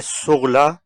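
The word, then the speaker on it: sous: मिसाल के तौर पर लु लीव ए सुगला ताबल किताब मेज़ पर है। तीसरा लफज़ है सु इसमें भी एस साइलेंट है।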